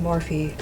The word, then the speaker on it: Morphe: you're pronouncing it right hold on morphy and there we have it it's pronounced morphe i feel like i